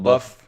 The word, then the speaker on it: LaBeouf: LaBeouf, yeah, because he's kind of buff.